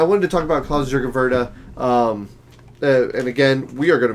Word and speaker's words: Wrede: And then it's Wrede, because the German W has a V sound.